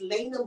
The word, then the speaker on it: Lay'na: And he said, "Okay, make sure you say her name is Lena Michelle."